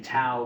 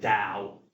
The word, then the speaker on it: Tao: saw a T, but I didn't realize that in the Wade-Giles system, actually, this should be have a softer sound to it, or pronunciation. It should really be pronounced Tao, even though it's spelled with a T.